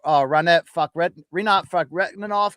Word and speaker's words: Rinat Fakhretdinov: We've seen Islam Makhachev come out and complain about Rinat Fakhretdinov getting cut from the UFC.